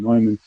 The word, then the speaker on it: Neumann: John von Neumann, I'm going to say it right this time, Neumann.